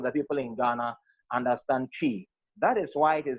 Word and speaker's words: Twi: not relegating the other languages to the background, but each and everybody or most of the people in Ghana understand Twi.